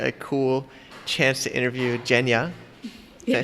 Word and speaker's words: Evgeniya: We're here in Bangkok, Thailand, and I get a cool chance to interview Evgeniya.